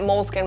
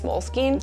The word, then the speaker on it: Moleskine: into an email afterwards i don't know how to say it i've been calling it moleskin my whole life but i think it's moleskine just this kind of